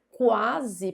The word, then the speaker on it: quase: Se eu pronuncio quase, perceba que eu pronuncio todas as letras. Quase. Todas as letras.